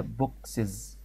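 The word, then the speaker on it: boxes: طب بوكس ديت احب اجمعها، ما ينفعش الزق في حرف الاكس اس، ما تتنطقش اساسا، فعشان كده يعني في كسره ما بينهم فقلتها بوكسز. بوكسز، فعشان كده ضفت اي اس.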